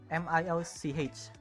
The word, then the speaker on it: Milch: MILCH. The H is a bit pronounced. It's milk in German.